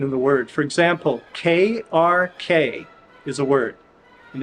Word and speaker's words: krk: For example, KRK is a word, and it's pronounced krk, krk, like Captain Kirk in Star Trek.